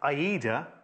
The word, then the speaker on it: Ada: Ada is pronounced Aida, like the opera, apparently.